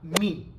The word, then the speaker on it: мы: anterior ya not acá mi pero no significa que se pronuncie así así que por más